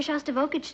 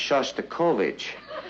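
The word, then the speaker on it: Shostakovich: He's taking me to hear Shastokovage tonight. Honey, I think that's pronounced Shasta Kovich.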